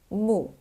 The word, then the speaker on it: 木: And it pronounced as mù.